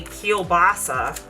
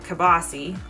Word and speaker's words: kielbasa: to get our kobasi which is a pittsburgh way of saying it i know it's probably kielbasa but in pittsburgh we pronounce it kabasi k-e-h-b-o-s-s-y it's the proper yinzer pronunciation of it because i always make